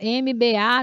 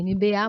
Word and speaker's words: MBA: Ah, professora, eu chamava ela de MBA, já vi no outdoor, MBA não sei o quê. É MBA, mas a pronúncia é em inglês, MBA, e significa realmente em inglês, né?